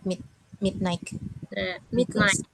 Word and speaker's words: midnight: We go to bed at midnight. Midnight ya, cara bacanya jadi G-nya silent.